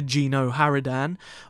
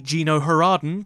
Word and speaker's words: GenoHaradan: the old republic is the geno haridan or the geno haraden depending on how you want to pronounce it and they are the